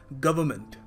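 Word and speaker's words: government: देखो यहाँ पर इस वर्ड में ना आर और जो एन है ना, उसको आपको प्रोनाउंस करना नहीं है वैसे, मगर लोग कुछ छोड़ते नहीं है, लोग कहते हैं वर्ड है तो बोलो उसको, है क्यों फिर। देखो सही वैसे बिल्कुल एप्रोप्रिएट तरीका होगा इसको प्रोनाउंस करने का, गवर्नमेंट, गवर्नमेंट।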